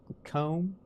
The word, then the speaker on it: comb: Comb bomb. Comb and bomb. C O M B O M B. They don't sound the same. Like comb is like home.